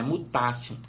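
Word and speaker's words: mutatio: E aí o segundo T tem som de C, né? Mutácio.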